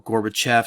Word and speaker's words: Gorbachev: to really revolve around a man named Mikhail Gorbachev or Gorbachev some people pronounce it that way he's the guy who's